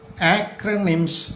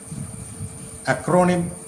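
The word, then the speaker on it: acronym: അങ്ങനെയുള്ള വാക്കുകളെ ആക്രണിംസ് എന്നാണ് പറയുന്നത്. ആക്രണിംസ്, അക്രോണിം എന്ന് വായിക്കരുത്, ആക്രണിം.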